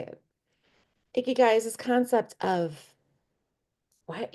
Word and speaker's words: ikigai: Going to help you learn how to pronunciate it. It's ikigai, okay?